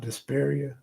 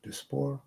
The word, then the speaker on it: diaspora: How you say it? Diaspora? Not Desperia, Diaspora.